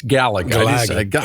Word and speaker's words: Galaga: yeah g oh sorry I didn't say it right it's Galaga we call it Galaga so what see they